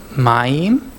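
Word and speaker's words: מַיִם: week so how we would be how we pronounce this ma I'm Mayim what is my mean water waters there's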